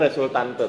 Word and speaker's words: resultante: Tulisannya resultante, tapi bacanya resultan.